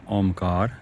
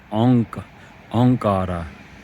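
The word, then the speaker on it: ਓਅੰਕਾਰ: It's not pronounced Omkar, because Bhai Gurdas Ji tells us how to pronounce it. He says that Ik is Ekankara, and Om, the Ong, is Onkara. So Onkar comes in Gurbani.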